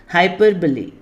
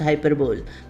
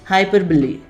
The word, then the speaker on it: hyperbole: देखिए और सुनिए हाउ आई am going to pronounce it. हाइपरबोली। हाइपरबोल spelling is like that and very often it is pronounced hyperbole, but the correct pronunciation you should know, hyperbole.